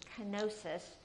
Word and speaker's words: kenosis: And what it means is, the way that we pronounce it in English is kenosis.